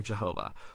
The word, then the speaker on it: Jehovah: We sometimes pronounce it as Yahweh or Jehovah.